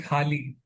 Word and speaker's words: Hali: So when you're talking, I think in the first chapter, when you're talking about Hali, am I pronouncing it correctly?